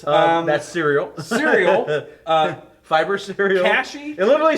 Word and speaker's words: Kashi: And then is that cashy? Is that how you say it? I don't eat that. Cashy cereal or an avocado? Kashi. Kashi.